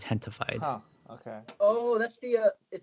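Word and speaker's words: Gentefied: It's spelled with a G, gentified, but it's like pronounced Hentified.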